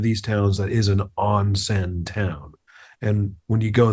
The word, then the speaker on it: onsen: what I had said, I pronounced it incorrectly. It is onsen. Okay, I had said Osen.